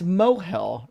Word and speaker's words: mohel: It's mohel, right? Oh, rhymes with spoil.